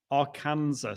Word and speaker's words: Arkansas: west arkansas um saying hello from am i pronouncing that am i saying that right our arkansas yes that's right watching on a macbook pro